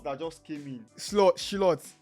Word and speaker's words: Slot: Slot Slot. His name is pronounced Slot.